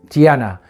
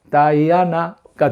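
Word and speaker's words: Diana: 그리스 신화에서는 아르테미스, 그리고 로마 신화에서는 디아나, 영어식으로 하면 다이아나가 되겠죠.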